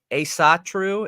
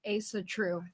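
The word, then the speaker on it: Ásatrú: what odinism stems from is us uh a a satru is how it's pronounced right Asatru it's ASA true ASA true ASA true okay so odinism stems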